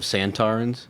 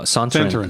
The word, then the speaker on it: Sontaran: Well, he's also the reason we call him Sontarans with the accent on the second syllable. Oh, instead of Santarans? No, Sontaran. Sontaran.